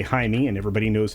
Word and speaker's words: Jaime: his first name properly calling him Jamie well that seems to be a running Trope in this particular one which I can tell you right now is well completely false in today's world everybody knows how to say hi me and everybody knows how